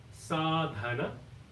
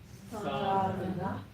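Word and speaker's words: Sādhana: So it goes as Sadhana, Sadhana, S-A-A-D-H, so it is Dha.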